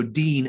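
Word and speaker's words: דין: nun final uh so dean as in the name dean if you've if you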